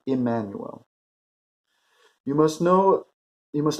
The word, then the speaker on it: Immanuel: you must know that my name was Emanuel pronounced as an i as an Emanuel you must know you